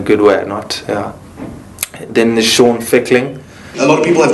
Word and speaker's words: Fickling: It's Fickling, like tickling with an F.